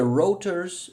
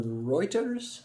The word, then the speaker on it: Reuters: Rotors or Reuters, how do you pronounce this? Both actually. Both ways.